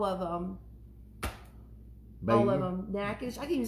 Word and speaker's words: Natchitoches: how to pronounce all of them. All of them. Natchitoches. I can even spell Natchitoches.